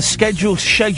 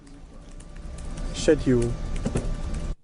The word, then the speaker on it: schedule: Schedule. Say it again. Say it again, buddy. That's the English way to say it.